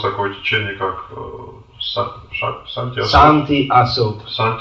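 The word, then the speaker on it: Santi Asoke: Santi Asok. They don't pronounce the sh.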